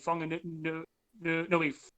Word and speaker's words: Whanganui: natives of New Zealand, a W and a H is pronounced as a f, so an F. So whakatane, whanganui, whakapapa, that kind of stuff like that.